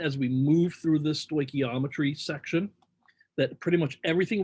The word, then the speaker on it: stoichiometry: saying that at first but that's how you pronounce it stoichiometry and we're going to be using sort of